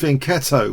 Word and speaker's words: fianchetto: And the fianchetto, pronounced fianchetto, was mentioned as being really clever.